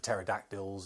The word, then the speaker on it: pterodactyls: being attacked by the pterodactyls and saber-toothed Tigers and all that kind of stuff and yes I do realize that it's a silent P but when I say